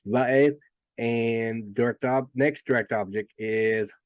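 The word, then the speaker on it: וְאֵת: So this is pronounced va'eth, and next direct object is haaretz.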